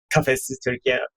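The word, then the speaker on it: Kafesiz Türkiye: I think it's like Kafesiz Turkey. Kafesiz Turkey, it's pretty close.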